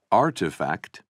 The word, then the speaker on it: RTFKT: in February 2021 another digital fashion company rtfkt pronounced artifact organized an online sale of 621 pairs of